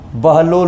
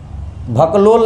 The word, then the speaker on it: बहलोल: लोदी, ये देखो ब को बस पकड़ना, बहलोल लोदी, बहलोल लोदी, भकलोल नहीं कर देना है, बहलोल लोदी।